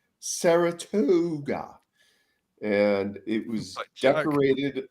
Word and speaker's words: Saratoga: Which is pronounced Saratoga, and it was decorated like a Stevie Nicks nightmare.